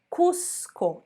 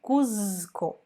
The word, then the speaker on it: Cuzco: então a gente tem a pronúncia desses z tá esse z vai só como é sim então a gente disse cusco e não cuzico tá cusco cuzco e